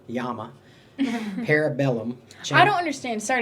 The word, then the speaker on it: llama: Uh two L's. Two L's is a Y. Yeah, two L's is a Y in Spanish.